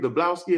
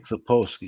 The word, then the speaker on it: Sapolsky: Dablowski, am I saying it right? How you say his name? Sapolsky.